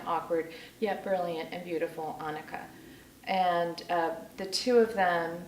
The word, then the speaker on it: Annika: Okay, this is about Annika, rhymes with Monica, Rose, who's an English